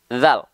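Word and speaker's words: ذال: bawah nama aslinya ya jangan sampai teman-teman sebut hanya menyebut ini adalah huruf dza di dalam huruf hijaiah tak ada yang namanya huruf dza ini namanya adalah huruf dalal huruf dalal huruf dalal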